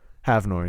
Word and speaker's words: Havnor: I butchered the name. Havnor, yeah.